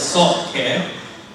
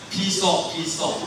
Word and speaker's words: PSALTCare: Okay, it's pronounced as SALTCare, and the Christians have got no problem pronouncing it SALTCare, but any other people I talk with in the community, they keep calling us PSALT, alright?